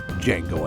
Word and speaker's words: Django: Tarantino's controversial Oscar-winning western, Django Unchained. The D is silent.